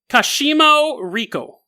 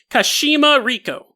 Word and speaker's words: Kashima Riko: Kashimo Riko. Kashimi. Sorry, I did not pronounce that right the first time. Kashima Riko.